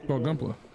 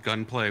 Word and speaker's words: Gunpla: play one more Destroyer is it actually pronounced that way gunpla yeah yeah okay gunpla I really thought it was just Gunplay without the I'll be right back